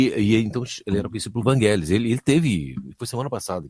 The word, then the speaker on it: Evangelos: Acaba de falecer, ele é grego e a pronúncia não é essa. O nome faleceu semana passada. O nome é outro pronunciado. É que Vangelis é uma espécie de diminutivo muito comum na Grécia para Evangelos.